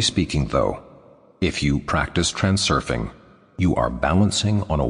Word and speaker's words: transurfing: Generally speaking, though, if you practice transurfing, you are balancing on a wave of fortune. The word is pronounced transurfing in the same way as it is spelled.